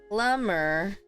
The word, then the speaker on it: plumber: as two words hairdresser Plummer plumber the be is silent that's ending there plumber